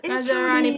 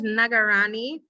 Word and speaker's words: Nagarani: Her name is Nagarani Panakala. So not Naj, Nagarani.